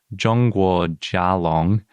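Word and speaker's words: 中国甲龙: they didn't write out, but it would be pronounced Zhongguo Jialong, which literally means China.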